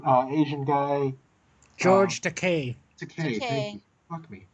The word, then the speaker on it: Takei: Takei. Thank Takei. you. Fuck me. Rhymes with gay.